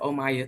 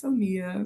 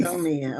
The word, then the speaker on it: Omia: But um yeah, so they just pronounce it Omaya, too. I'm like, "No, it's Omia." It's Omia.